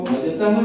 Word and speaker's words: भजतः: तो भजतः सदैव, तो जब विसर्ग के आगे स आएगा तो वो विसर्ग का उच्चारण विसर्ग की तरह नहीं होगा, आगे वाले स के आधे स के बराबर के जैसा होगा।